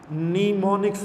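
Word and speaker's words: mnemonics: शब्द है जिनको हम निमोनिक्स बोलते हैं ठीक है यह एम स्टार्ट में इसके साइलेंट है इसको आपने पढ़ना है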